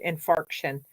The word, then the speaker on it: infarction: that's when I call them fraction I'm not mispronouncing it it's called infarction so and actually I had a uh blood